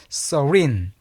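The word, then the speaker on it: serene: 그 열 번째 자 이건 발음이 조금 어렵습니다. 이거는 서린 서린 이렇게 읽어 줘요.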